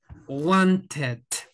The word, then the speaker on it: wanted: ya se pronuncia diferente Aquí sí pronunciamos okay el ID decimos want Wanted sí want Wanted need needed sí Wanted needed okay Ahí